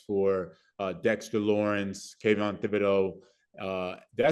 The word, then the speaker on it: Thibodeaux: forcing one-on-one matchups for uh Dexter Lawrence Kevin Thibodeaux uh did I say his name right yeah